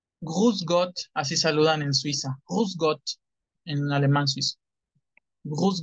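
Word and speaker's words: Grüß Gott: Pero es Gruß, suena con U. No, así es con U. Gruß Gott, así saludan en Suiza.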